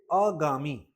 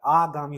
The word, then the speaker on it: आगामी: जैसे एग्जांपल के लिए अगामी अशुद्ध है। हम लोग क्या बोलते हैं? आगामी परीक्षा में आगामी नहीं होता। आगामी होता है और यही और यही क्वेश्चन एग्जाम में आता है।